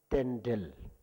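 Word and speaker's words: རྟེན་འབྲེལ: So our pronunciation we used to say Temre, but then actually it's Tendel. It's literally Tendel, but then pronunciation we say Temre.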